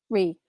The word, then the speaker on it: Ree: going to do for, is it Ray or Ree? I want to make sure I say her name right. Ree.